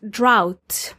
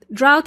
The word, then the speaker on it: drought: the disaster happens the opposite of floods is droughts now this is an interesting word to spell like if you see it you will know that it's actually pronounced drought drought is spelled as dr o u GH t